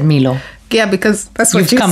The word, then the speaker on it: Milo: So, anyway, I call it Milo. Everybody in East Africa calls it Milo. Madame here calls it Milo. Because it's spelled M-I-L-O. Milo is a name. If in order for me to say Milo, it'll have to be spelled out as M-E-E-L-O.